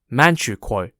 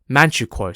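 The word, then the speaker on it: Manchukuo: a puppet state called or pronounced in English as manchukwo manchuko spelled m-a-n-c-h-u-k-u-o the Japanese roared Northeast China under man drogwar manchukwo for almost 14 years until 1945.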